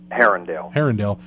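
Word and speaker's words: Harundale: into in the community of, how do you pronounce it? Is it Harrendale? Harrendale.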